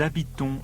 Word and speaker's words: habitons: Nous habitons Londres. Yes, on. O-N-S, but pronounced on.